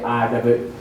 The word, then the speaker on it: Reid: When I Google it, it doesn't say READ, it's REID. But it's still pronounced read vapor pressure.